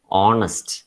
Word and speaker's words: honest: Yes, we write it as honest, but we pronounce it as honest.